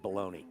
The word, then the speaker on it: bologna: one of the two how do you spell it b o l l o g n a and we all call it baloney Balon you talking about